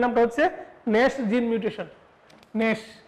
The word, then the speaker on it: GNAS: ন্যাশ বানানটা জি দ্বারা শুরু, GNAS, ন্যাশ জিন মিউটেশন।